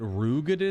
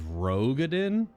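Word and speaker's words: Roegadyn: Did Alphino just pronounce it Rugadin instead of Rogadin?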